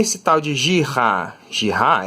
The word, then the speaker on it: Girard: Girard era um francês, por isso que você tem que pronunciar o nome dele com esse sotaque, sabe? Girard, ele também era físico e matemático, né?